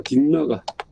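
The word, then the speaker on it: Dignāga: 딕나가 여기 보면 N자 위에 점이 찍혀 있죠. 이게 이응 받침이에요. 이응 받침. 딕나가 이거 발음은 딕나가입니다. 딕나가 해도 되고 디그나가 해도 돼요. 근데 이거는 이제 버머에서 이 두 가지가 다 가능합니다.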